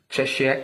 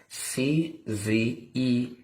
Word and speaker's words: Czechia: Czechia is spelled as Czechia.